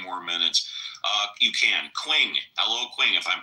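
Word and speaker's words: Qing: Quing. Hello, Quing. If I'm pronouncing that right. Quing. Quing. Q. Q I N G. Q I N G once. Q I There it goes. It's pronounced as Ching.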